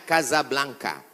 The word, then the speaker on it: Casablanca: nama negaranya Maroko ibukotanya tulisannya Casablanca cara bacanya Kasablanka Kaza artinya rumah Blanca